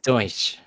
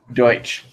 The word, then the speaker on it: Deutsch: And it's pronounced Deutsch. Deutsch. Deutsch.